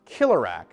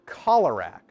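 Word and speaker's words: Keelerak: is the green visarack it's spelled k-e-e-l-e-r-a-k so you'd think it'd be pronounced killerrack but in the movie sidorak talks to one and he calls it cholerak so I don't know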